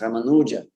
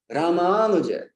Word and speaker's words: Ramanuja: But at that time, I used to pronounce Ramanuja. So I said Ramanuja, and he didn't get me in the beginning. I had to say like 2 or 3 times. He's like, what? Who? I'm saying Ramanuja. Ramanuja Acharya. He's like, what? Oh, Ramanuja. Then he understood.